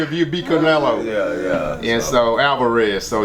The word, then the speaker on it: Canelo: I hate butchering this guy's name, but Canelo and Canola, what's his name?